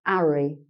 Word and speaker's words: Harry: uh would be pronounced arry and have when you make the h sound av so the cockney speaker tends to miss off the h okay so okay that's